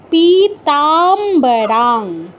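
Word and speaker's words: পীতাম্বরাং: দিলে পি তা নয় এখানে কিন্তু দুটো ত নেই একটাই এইতো পিতা নয় পিতা পিতা পিতামবারাং পিতামবারাং বলতো তুমি শব্দটা পিতামবারাং অনুসারের পর ক আছে না অনুসারের পর ক খ গ ঘলে অনুসারের জায়গায় হ শব্দ বারাং পিতামবারাং আবার বল পিতামবারাং গুড ঠিক আছে।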